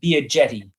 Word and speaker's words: Biagetti: It's just Biaghetti. Oh, see, I'm Italian and I should know that. So shame on me. It's a hard G sound there. Just like the word jetty.